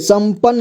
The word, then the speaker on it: संपन्न: देखिए संचार संचार संपन्न यहां देखिए संपन्न लिखा हुआ है ठीक है यह लिखा कैसे है देखिए स इसके बाद अं की मात्रा सम प इसके बाद एक आधा न इसके बाद एक आधा न और पूरान ठीक है संपन